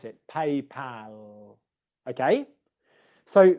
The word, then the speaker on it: PayPal: how you pronounce it paypal okay so that's the word pal um nurse just asked can